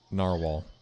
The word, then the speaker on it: Gnarwall: Narwhal, and the G is silent.